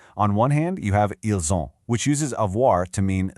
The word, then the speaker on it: ils ont: Because of that liaison we talked about, the S in ils connects with the O in on to make a soft Z sound, ils ont.